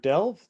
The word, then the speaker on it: Delve: program interview with a master corporal retired delve they're pronouncing that right yes perfect uh i am